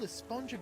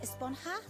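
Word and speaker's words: Esponja: And that's what this whole Espongja Grande thing has been about, huh? Actually, it's pronounced Esponha with an H sound at the end. Really? But we've all been saying Espongja.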